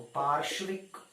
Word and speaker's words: पार्श्विक: थोड़ा ध्यान से देखना ना उच्चारण को, पार्श्विक, पार्श्विक।